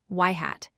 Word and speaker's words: ŷ: We denote this with the symbol y circumflex, which is pronounced y-yhat.